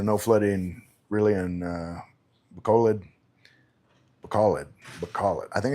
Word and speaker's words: Bacolod: some locals here in Bacolod. Oh, okay, so no flooding really in Bacolod. Bacolod. I think it's Bacolod. It's like bacaw lead, like a lead in a pencil, lead, bacaw.